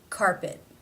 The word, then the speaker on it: carpet: It ends the word. It is not part of a consonant cluster. Therefore, it is a stop. Carpet.